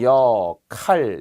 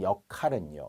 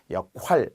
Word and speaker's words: 역할: 기억해 둬야 할 것은 역할이라고 하는 발음 발음으로는 역할 이렇게 축약이 되겠죠 쓸 때는 쓰면서 나눌 할 칼로 나누었군요 나누었어요 그것이 이번에 제가 맡은 역할은요 이거죠 근데 사람들이 왜 자꾸 이것을 역활이라고 쓰고 발음하는지 모르겠어요 역활 아니에요 역할 기능 역할 구실 매개체